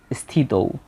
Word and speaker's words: স্থিত: তাই আমরা এখানে সটা অর্ধেক উচ্চারিত হবে। থিত স্থিত।